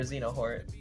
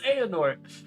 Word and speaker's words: Xehanort: Why you say his name like that? What? How do you pronounce his name then? It's Xehanort. Really?